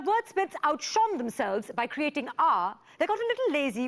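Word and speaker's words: aa: As we go for a short break, I'm reminded of a short word, Ah. It's spelled A-A, that's it.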